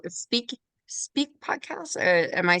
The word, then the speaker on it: Speke: do you guys talk about on it's called speak speak podcast am I saying it right yeah